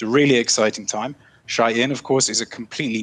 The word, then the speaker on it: Shein: Oh, so that's how you pronounce it. It's Shein.